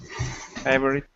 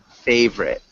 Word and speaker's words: favorite: Favorite? Close. So when we pronounce favorite, we don't pronounce the O. So it sounds like favorite.